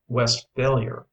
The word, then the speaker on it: Westphalia: It is pronounced Westphalier, with the accent on the last part, where it belongs.